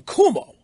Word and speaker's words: Cuomo: Kind of like the way I never disrespect the Reverend Jackson for pronouncing Governor Cuomo's name Cuomo.